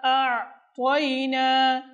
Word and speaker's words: أعطينا: প্রথমে হচ্ছে হামজা, দ্বিতীয়তে আইন। এই জন্য প্রথমে আমাদেরকে হামজার দিকে খেয়াল রাখতে হবে, এরপর গিয়ে আইন স্পষ্ট হচ্ছে কিনা, উচ্চারণ হচ্ছে কিনা সেদিকেও লক্ষ্য রাখতে হবে।